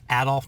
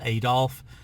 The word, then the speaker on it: Adolf: He's pronounced as Adolf, not Adolf.